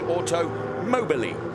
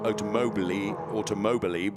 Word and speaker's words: Automobili: There we can see the number 23 car of Rocco Mazzola for Radici Automobili. I've been told how to correctly pronounce the team. It's not Automobili, which I have said previously. It's Automobili.